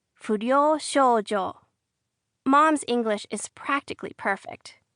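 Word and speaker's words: 不良少女: You say it fojo.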